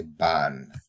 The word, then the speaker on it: van: right the van but you don't say van you say ban all right let's go